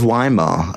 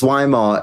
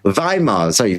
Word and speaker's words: Weimar: Sorry, I always pronounce Weimar as a W. Weimar.